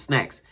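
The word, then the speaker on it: Snax: And of course, my name is Snacks. And that's spelled S-N-A-X.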